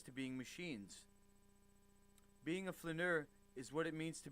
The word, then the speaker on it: flaneur: Let's get the right pronunciation of this word, huh? Ooh. There we go. Flaneur. You see here. Flaneur. Flaneur. Flaneur. Flaneur. Flaneur. Being a flaneur, as the French call it, is good for your well-being.